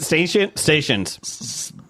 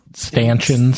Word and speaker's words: stanchions: Stations. Stanchions.